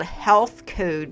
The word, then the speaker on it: HLTH Code: are these great shakes called Health Code, but it's spelled HLTH Code.